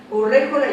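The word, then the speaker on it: Urrejola: Con María Josefa de Urréjola, le puse el acento en la E y no va, Urréjola y Peñalosa.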